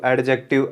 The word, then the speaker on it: adjective: ये एडजेक्टिव नहीं होता, इसके अंदर जो डी है वो होता है साइलेंट, तो इसका साउंड जाता है एडजेक्टिव, इसका साउंड जाता है एडजेक्टिव. एडजेक्टिव डी है वो साइलेंट रहता है.